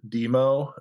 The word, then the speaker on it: Dëmoe: I think I would you would probably still pronounce it demo uh or or demo